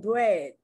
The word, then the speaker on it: bread: Sometimes it's pronounced like the short E, as in bread, B-R-E-A-D.